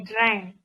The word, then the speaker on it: drank: I drank. Iya. Jadi kalau tulisannya A bacanya pakai E, kalau tulisannya U bacanya pakai A ya.